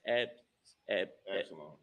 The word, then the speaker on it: Absalom: It's pronounced Absalom.